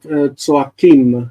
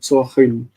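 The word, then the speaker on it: צועקים: Just that, tzoakim, not tzoachim.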